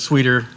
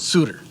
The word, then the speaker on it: Souter: come forward and sweeter it probably was sweeter at one point in history I pronounced it sooner okay okay that's a